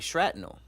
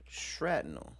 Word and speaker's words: shrapnel: I'm saying shratnel. Shratnel, right? That's how you say it. Don't make me seem like I'm crazy. Shrapnel. Shrapnel. Shrapnel. Shrapnel. I didn't know it was shrapnel.